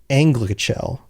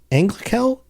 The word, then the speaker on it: Anglachel: So Beleg chooses a blade called Anglichel. Anglichel? Anglichel. words are hard.